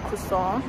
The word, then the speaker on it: croissant: got breakfast we had croissants and coffee for breakfast which is actually what the French breakfast is it's either you get a croissant or pronounced kuson um oh you get